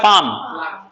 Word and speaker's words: palm: ऊपर वाला हिस्सा होता है पाम। एल साइलेंट रहता है, और साइलेंट लेटर को पढ़ते ही नहीं है तो पाम पढ़ेंगे।